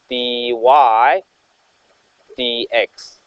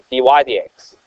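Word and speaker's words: dy/dx: So if you have a y, you have to write dy over dx. That's how you say it. Dy dx. That's how you say this fraction. Dy dx.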